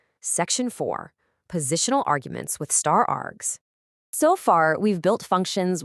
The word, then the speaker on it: *args: When you see an asterisk followed by the word args, which we pronounce star args, it simply tells Python, "Accept as many positional arguments as the user wants to throw at you."